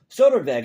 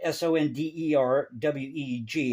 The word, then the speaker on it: Sonderweg: Whereas Goldhagen insisted on a more Soderweg, I believe is how you say it, Sonderweg, and that's in parentheses here, thesis.